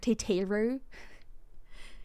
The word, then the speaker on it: Tataru: And that's when I found out that Tataru is actually pronounced something like Teteru.